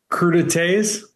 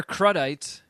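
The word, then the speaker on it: crudités: T say it again crud Tas all right it was either that or crudites I think that's what I called it first before you guys schooled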